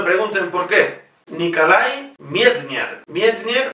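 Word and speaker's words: Medtner: Mietner, las dos es, se pronuncia ye. No es Mietner, como dicen en Radio Clásica.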